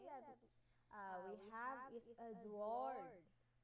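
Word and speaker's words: Édouard: Manet, or first name that we have is Edouard, pronounced as Edouard Manet.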